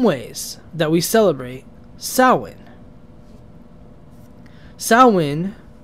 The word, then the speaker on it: Samhain: and discuss some ways that we celebrate SN sawin it's spelled Sam Hayne but it's pronounced sa in it's a significant Festival in various Pagan and